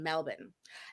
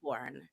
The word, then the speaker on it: Melbourne: station, but look up the Rat FM in Melbourne. And so, do you like how I pronounce that correctly? It's Melbourne. Not Melbourne.